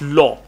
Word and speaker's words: law: use the word La it's not La it's law La is la la la la that is La okay this is law law all right uh